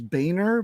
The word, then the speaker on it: Boehner: The true pronunciation is Boehner, but because I've got such dicks in my family, I pronounce it Boner.